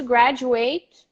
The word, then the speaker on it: graduate: graduate he's going to graduate next week he's a college graduate he's going to graduate next week so the stress is different the same thing happens